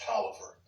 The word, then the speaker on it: Taliaferro: A lot of people don't know that his middle name is Taliaferro, which is actually an Italian name. In America, we syllabicate it and pronounce it out, but in Italy, it's pronounced Tolliver.